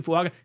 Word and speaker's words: Fuaga: on uh tiis say funga that's how you pronounce it funga then with the second round pick the New